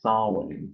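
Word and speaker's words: Samhain: for halloween that people might have heard is saw wayne or uh i guess it's spelt completely differently from how it's pronounced so it's spelled s-a-m-h-a-i-n but it's pronounced sawing so if you're into the pulp or uh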